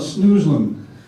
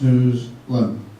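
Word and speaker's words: Snoezelen: I'm going to talk a little about snoozlin, and it's how it's pronounced, snoozlin.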